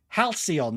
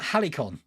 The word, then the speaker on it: Halcyon: but uh interesting stuff Halcyon not Helicon Rachel I'd never pronounce